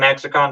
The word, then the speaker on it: Exarchon: he's a made-up word, I like to give the letter X its chance of its proper pronunciation when I can.